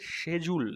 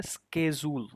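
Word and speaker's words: schedule: এটার ব্রিটিশটা হচ্ছে শেজুল, এখানে কই নাই, শেজুল। আর হচ্ছে আমেরিকানরা বলে স্কেজুল।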